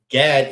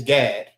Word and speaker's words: Gad: But Gad is Gad, and in the Hebrew, it's God.